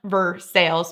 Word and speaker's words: Versailles: Versales road to sales. And yes, it is pronounced Versailles because this is Kentucky.